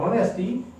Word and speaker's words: honest: Now these words are, ire or honest person or honesty, they begin with H. But H is silent in these words.